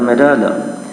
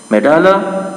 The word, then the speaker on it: medulla: The cerebrum, the cerebellum and द मेडाला। मेडाला, ये मेडुला नहीं है और ना ही ये मेडल्ला है, ये बल्कि मेडाला, इससे भी गलत प्रोनाउंस किया जाता है। तो बेटा इसको आपने पढ़ना है मेडाला।